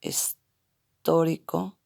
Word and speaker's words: histórico: El contexto histórico, acento en la O, histórico, de las clases en